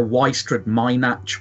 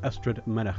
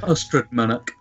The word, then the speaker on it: Ystrad Mynach: And when I first came into Newport, I asked where Wystrad Mynach was. Yeah. Which is actually pronounced Ystrad Mynach. Ystrad Mynach. Yeah, Mynach. The Mynach at the end.